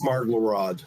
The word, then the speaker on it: Marglarod: Is it Marglerod or Marglarod? It's Marglarod. Okay.